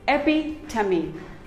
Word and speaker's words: epitome: none of them is correct it is simply pronounced as berry epitome it is not epitome it is epi tummy epi tummy epitome we all have a friend